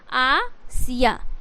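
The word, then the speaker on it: Asia: क्यों लिखा तो भैया यह लिखाता है आसिया बट इसे प्रोनाउंस किया किया जाता है आसिया क्या है आशिया इस तरीके से जैसे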